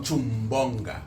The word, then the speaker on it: Nchumbonga: Pero para pronunciar su nombre correctamente. Ándale. Como Chumbonga.